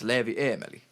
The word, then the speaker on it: Leevieemeli: okay and then what's your artist name it's leevy Emily Emily okay cool yeah awesome and we also